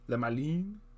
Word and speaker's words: Le Malin: Le Malin? That's how it's pronounced. Le Malin.